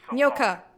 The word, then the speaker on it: Nyoka: It's 2 syllables. Nyoka.